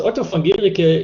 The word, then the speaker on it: Otto von Guericke: Actually, the university is pronounced Otto von Guericke.